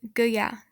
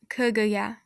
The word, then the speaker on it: gaya: The KG combination is pronounced as k. So when you're using something like gin with gaya, it'd be pronounced as gaya, not kagaya. It'd be gaya.